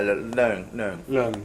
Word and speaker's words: Leung: So, do I say Leung? Because I don't know how to say it. Cantonese name. is fine. Yeah, Leung. Leung.